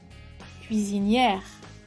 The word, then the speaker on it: cuisinière: Por ejemplo, cuando la palabra termina en ER, ER, la forma masculina se pronuncia E y la forma femenina se pronuncia R.